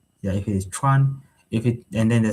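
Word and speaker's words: 船: And if it changes to the rising tone, then it will be chuan. And then chuan in Chinese means a boat, a boat like the boat that um this mode of transportation.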